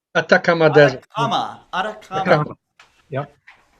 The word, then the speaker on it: Atacama: How you pronounce it? Atacama? Atacama. Atacama Desert.